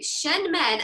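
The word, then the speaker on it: Shenmen: Did I say those right? I said that earlier, and I didn't know if it was actually the right pronunciation. Yeah, you did say them right.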